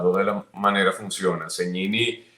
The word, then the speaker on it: Segnini: Cegnini es la forma correcta en el idioma italiano de pronunciar el apellido, porque la S y la G juntas se pronuncian como ñ.